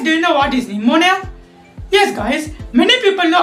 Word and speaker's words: pneumonia: the letter P then it should be pronounced as Pia but it is wrong it it is pronounced as pneumonia this is because p is silent that's why it is pronounced as pneumonia and not Pia well today in this